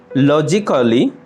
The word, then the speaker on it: logically: Logically. লজিক্যালি, যৌক্তিকভাবে। লজিক্যালি, যৌক্তিকভাবে। এখানে mark করা এ লেটারটি অনুচ্চারিত থেকে যাচ্ছে।